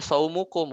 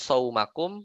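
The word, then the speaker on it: صومكم: Makanya kita bacanya saumukum, bukan saumakum atau saumikum, tapi kita bacanya saumukum khairun lakum.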